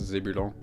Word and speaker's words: Zébulon: It's pronounced Zebulon, if anyone's curious.